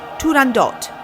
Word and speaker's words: Turandot: did you know that although often pronounced as if it were a French word the correct title of the Opera is turandot with a hard T at the end to avoid any misunderstanding